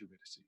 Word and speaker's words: Eurydice: you in sophomore English when you read a poem about Orpheus and Eurydice, because you don't know it's Eurydice, because you don't know about Greek words.